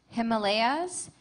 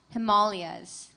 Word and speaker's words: Himalayas: Your word has two pronunciations. Himalayas, Himalayas.